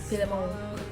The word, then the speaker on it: Philemon: Why did I say it like that? Philemon. He's not French.